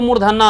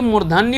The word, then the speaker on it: मूर्धन्य: हम लोग क्या कि थोड़ा उतना शुद्ध उच्चारण नहीं बोलते, हम इसको मूर्धन्ना ना बोलते, मूर्धन्ना और इसको दंतना, जबकि ये मूर्धन्य होता है, ये दंत्य होता है।